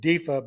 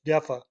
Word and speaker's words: DEFA: 4 years later, the East German DEFA, spelled capital D, capital E, capital F, capital A, I always pronounced it DEFA, but it's DEFA, began producing Westerns of its own.